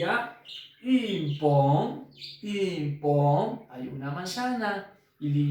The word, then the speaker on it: une: Se escribe une, pero se dice une. Voy a poner mi boca en forma de besito, de silbido, y digo la I. Voy a pronunciar la I. Que suene también, que vibre la nariz.